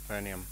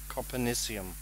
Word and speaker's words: copernicium: you have 20 tickets konium I keep saying that wrong and I actually learned how to say it as well copernicium okay we can release